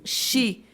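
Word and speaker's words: 四: Shi é o número 4 e Shi é a mesma pronúncia, é uma onomatopeia que fala... Não sei que figura de linguagem, que a escrita é diferente, mas a pronúncia é a mesma, de morte.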